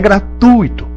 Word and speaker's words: gratuito: graça vamos lá que é gratuito fortuito circuito lá isso há aquele pedaço